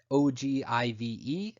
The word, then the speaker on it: ogive: etc the last type of graph is spelled og iv'e it's pronounced ogive and it's used with either cumulative